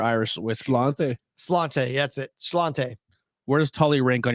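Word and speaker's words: Sláinte: where does holly write here i think it's slash a is how you actually pronounce it where does totally rank on your irish whiskey cellante that's it chlante where does tully rank on your irish whiskey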